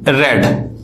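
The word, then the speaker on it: read: आप जानते हैं कि रीडिंग की जो थर्ड फॉर्म होती है वो होती है रेड। फ्रेंड स्पेलिंग इसकी सेम होती है, स्पेलिंग सेम होगी यानी कि रीड की फर्स्ट सेकंड और थर्ड की स्पेलिंग सेम होती है, प्रोनाउंसिएशन थोड़ा सा चेंज होता है, रीड रेड रेड, ठीक है ना।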